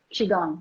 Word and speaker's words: Qigong: And you're teaching Qigong. Is that how you say it? Qigong, yes.